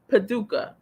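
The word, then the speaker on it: Paducah: got some subscribers there already waiting ttmg is pronounced pad do padouka padet wait paduka paduka paduka kentucky all right i'ma show you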